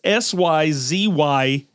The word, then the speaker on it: Syzygal: It's Syzygal, and it's got in parentheses Siz-I-Jal. So Syzygal.